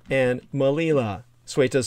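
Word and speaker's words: Melilla: are uh this is of course suita and malila suite is spelled c-e-u-t-a malila spelled m-e-l-i-l-a and suita and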